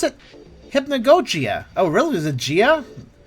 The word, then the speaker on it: Hypnagogia: And you pronounce it Hypnagogia.